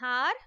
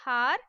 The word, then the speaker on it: hour: The next sentence is, we waited for an hour for a school bus. In this sentence, the word hour starts with the consonant letter H, but H is silent.